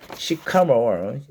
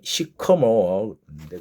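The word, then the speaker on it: sycamore: 교정 단계에서도 비교적 일찍이 2001년에 안양교도소에서 시카모어 발음은 시커모어인데 그건 시커모어 프로젝트.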